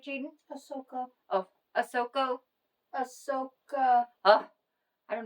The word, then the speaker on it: Ahsoka: And so please meet Asaka. Is that right, Jaden? Ahsoka. Oh, Ahsoka. Ahsoka. I don't know why I can't pronounce that name.